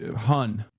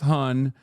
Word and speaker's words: hon: Isn't it like uh it's hun? It's pronounced hun, but it's spelled han.